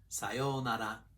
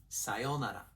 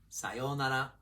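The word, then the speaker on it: さようなら: Sayonara. This word sometimes has 5 beats. Sayonara. And that's more formal than when it's pronounced with 4 beats. Sayonara. Pitch accent pro tip. Start low and then continue high.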